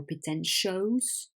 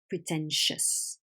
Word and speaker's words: pretentious: and the pronunciation that owe us is not O's it's us so danger rests rests pretentious it's not dangerous or pretend shows it's dangerous pretentious and in this case pretentiousness two very very weak syllables at the end of the world okay let's continue we'll